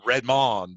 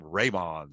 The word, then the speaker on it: Raymond: I kept thinking it was Redmond, but it's Raymond.